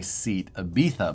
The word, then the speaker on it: Seat Ibiza: Works, which these are 1/10 scale, licensed by Seat Ibiza bodies.